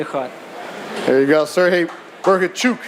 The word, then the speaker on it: Bohachuk: there you go sirge b chuk as he told me to say his name it's a chuk at the end right from Ukraine Manny